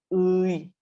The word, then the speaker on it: 의: If it's in the middle of the word, we say it as 이. 편의점, 편의점, 편의점. Okay? And if it's at the end of the word, we say 애, 엄마애, 아빠애, 동생애.